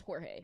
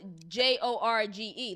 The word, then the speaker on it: Jorge: work next to George but his name is Jorge no I'm offense but everybody in the job